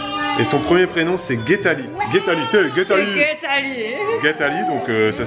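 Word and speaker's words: Geethali: Et son premier prénom, c'est Guetali. Guetali, donc ça s'écrit G-E-E-T-H-A-L-I.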